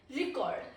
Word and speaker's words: record: Nouns are stressed on the first syllable on the first syllable and verbs are on the second syllable. Eg record.